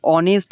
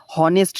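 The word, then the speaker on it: honest: এখানে তুমি অনেস্ট উচ্চারণ করো। অনেস্ট হনেস্ট না কিন্তু এইচ কিন্তু এখানে আসবে না। ঠিক আছে? এটার উচ্চারণ কিন্তু অনেস্ট হয়। আর সেই কারণে এইচ টা এখানে সাইলেন্ট হয়ে যায়।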